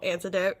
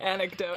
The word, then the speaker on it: anecdote: I just want to share this little antidote. Antidote? That's how you say it. Anecdote. Anecdote. Damn it. Antidote is like what stops the poison.